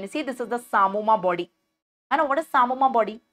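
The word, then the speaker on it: psammoma: silent don't call it the p is silent call it Samoa bodies in the Samoa bodies the calcification is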